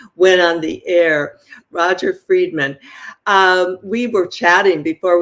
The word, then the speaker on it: Friedman: very happy to be here and it's Roger fredman fredman okay I didn't know on the pronunciation I should have asked that before we went on the air Roger fredman um we were chatting before we went on